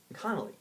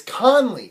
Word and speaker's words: Conley: wrong again that's fine connolly it's conley not connolly you're saying there's you're putting a syllable after the end it's connolly no khan we say two separate conley there you go all